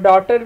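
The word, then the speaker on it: daughter: डब्ल्यू और टी, और डॉटर में जी और एच, और नाइट में के और जी एच।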